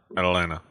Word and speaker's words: Atlanta: yeah hotline ovens yeah Atalanta place spelled with two T's pronounced with none ah drew what were